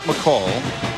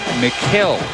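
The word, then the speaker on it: Mikal: And Muel wanted it known that his name has been mispronounced his entire career. It's not McCall. It's not Michael. It's not male, it's male, although it's spelled m i k a l.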